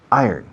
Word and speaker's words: iron: Iron. ¿Cómo? Iron. Yo, como si dijeras, yo gano. I earn. Acentuando I. Iron.